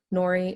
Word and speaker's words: Nori: Nori is the name that sticks. Nori pronounced like Lori, but with an N.